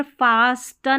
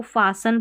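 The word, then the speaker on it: fasten: Same ऐसे यहाँ पर फास्टन नहीं, इसको फासन पढ़ेंगे।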